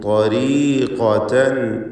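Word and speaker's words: طريقةً: അംസലുഹും ത്വരീഖതൻ ഇല്ലബിസ്തും. ത്വരീഖതൻ പൂർണ്ണമായ തഫ്ഖീം കൊടുക്കണം. ഏറ്റവും കടുപ്പമുള്ള അഖ്വൽ ഹുറൂഫ് എന്ന് വിശേഷിപ്പിക്കപ്പെടുന്ന തഫ്ഖീമോടുകൂടി സ്വരഭാരത്തോടെ ഉച്ചരിക്കുക. എന്ന വ്യക്തമായ അതിൻ്റെ മഖ്റജിൽ നിന്നുമുള്ള ഉച്ചാരണം. ത്വരീഖതൻ ത്വരീഖതൻ. ഖാഫിനും പൂർണ്ണമായ തഫ്ഖീം.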